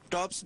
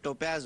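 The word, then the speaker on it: topaz: miss pronounce करती हैं टॉप्स बोलती हैं ये जो कानों में पहनती है ये लफ्ज टॉप्स नहीं होता बल्कि टोपेज होता है टोपज या टोपाज़ होता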